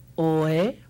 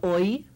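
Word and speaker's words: ʻoi: O, e, oe. O, I, oi, like Maui no ka oi. Yeah, it's not Maui no ka oe, it's Maui no ka oi. Oi, hear that E sound at the end?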